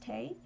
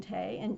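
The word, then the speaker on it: Tey: joseph and josephine tay i believe it's pronounced tay who wrote murder mysteries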